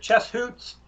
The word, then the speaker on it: Chess Hoots: Yeah, so the Chess Hoots is chess and then hoot like an owl, HOOT.